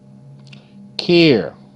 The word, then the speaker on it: care: Care, air, care. Okay, now you care. E is silent.